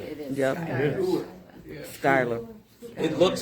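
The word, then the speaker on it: Schuyler: Dunkirk, Tonawanda, Schuler. Skylar. Jerry, what did they tell us? It is Skylar, isn't it? It is Yep. Skylar. Skylar.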